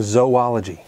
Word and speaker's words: zoology: in the same vein it makes sense to pronounce the separate parts of this word separately zo andology making zoology if you ask zoologist